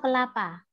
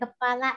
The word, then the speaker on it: kelapa: Anda pasti tahu kelapa. Kelapa. Kelapa ya, bukan kepala ya, oke? Okay? Kelapa. Kelapa. Don't be wrong in pronouncing. Kelapa is coconut and kepala is the head, ya.